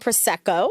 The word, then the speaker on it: Prosecco: I have always pronounced it wrong. Say it. Politics and Prosecco.